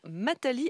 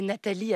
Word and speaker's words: Matali: Et elle s'appelle donc Mathali avec un M comme Marie. Oui, quel étrange prénom. En réalité, c'est Nathalie avec un N, mais elle a choisi de garder la prononciation erronée d'un enfant qui l'appelait Mathali.